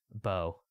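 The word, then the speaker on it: Beau: Bo. Yes, I have two cats. That was my old name. No, but it's spelled B-E-A-U.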